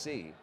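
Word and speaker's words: Tse: Spells it T-S-E, pronounced C.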